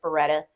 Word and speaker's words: Beretta: and my last name is Beretta and pronounced like the gun.